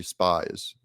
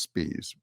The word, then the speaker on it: Spies: this Democrat operative and his name is Charlie spies it's actually pronounced spes but um this is